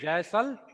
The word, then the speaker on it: Jaisalmer: Jashmir, many Jaisalmer. place Jaisalmer. Jaisalmer. Jaisalmer, Jaisalmer. many Listen it. What is it? Jaisal- Jaisalmer. Look at the board. Jaisalmer, J-A-I. What will you read?